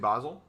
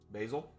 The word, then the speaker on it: Basel: Swiss people say like that.